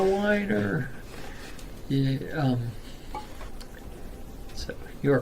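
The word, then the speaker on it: Wiener: You have to whine when you say it. It's a whiner.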